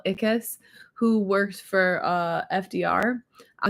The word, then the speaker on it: Ickes: First of all, it's not pronounced Ix, it's pronounced the way he would say it is, yeah, it rhymes with it, like sickness, but with no ness, just like Ickes.